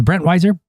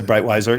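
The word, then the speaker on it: Breitwieser: fascination started with it's Brent Weiser. Yeah, we can anglicize it to Breitweiser. Breitweiser is maybe the way to pronounce it, but we're going to do this in English.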